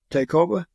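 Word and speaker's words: Tayacoba: the Battle of taoba takeova how do you spell it t a y a c o b a it sounds like to KOB to mean yeah then the following year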